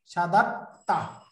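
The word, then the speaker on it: شددت: উচ্চারণ করতে হবে এটা সাদাত্তা। এই যে পরের দালটা থাকবে কিন্তু দালটা উচ্চারণ হবে না, তার উপরে তাই মতো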